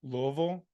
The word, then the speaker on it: Louisville: Again, that pronunciation is Louisville. You got to say it like you're from there. They're very particular about how you say it, like I said last week.